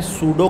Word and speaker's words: pseudo: इसको हम कहते हैं सुडो क्लासेस इसको हम क्या कहते हैं पीएसईउदो क्लासेस अच्छा सुडो की जो स्पेलिंग है वो ये है इसमें पीस साइलेंट है ठीक है तो यह